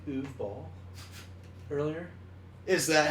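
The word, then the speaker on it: Uwe Boll: Did you say Uwe Ball earlier? Is that how you pronounce his What's his name?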